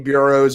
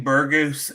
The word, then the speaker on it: Burgos: pronunciations on this one i've got shane bureau's versus billy quantitaro it's a shane burgos and billy quarantillo court yep billy q